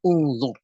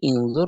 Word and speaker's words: انظر: Tidak bisa menjadi inzur atau angzur. Maka kita membacanya unzur.